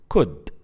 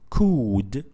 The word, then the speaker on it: could: So we pronounce this word as could, not could. We don't pronounce it could. No, we pronounce it shortly as a short vowel sound by saying it could.